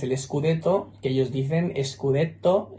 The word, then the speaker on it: scudetto: Scudetto, que ellos dicen Scudetto y al soneto lo llaman sonetto. Ellos escriben tanto Scudetto como soneto con dos T's y pronuncian una T en cada sílaba.